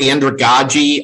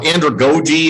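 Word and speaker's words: andragogy: andrew go to your andrew godgie i've heard it pronounced both ways to be honest with you i'm not sure which one is the correct pronunciation anymore because so many people have alternated between the two so andrew goji i think is kind of the go-to pronunciation the idea behind this is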